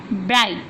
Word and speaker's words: Bright: Bright. G is silent letter.